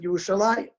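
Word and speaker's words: ירושלים: And here it's without a yud, but the chirik is there, so we pronounce it Yerushalayim.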